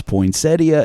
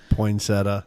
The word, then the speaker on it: poinsettia: And that is the right way to say it. Anybody can say, listen to it, tell me I'm right, because it was founded by a man whose last name was Poinsettia, and it was named after him. Poinsettia. Nope, it's Poinsettia.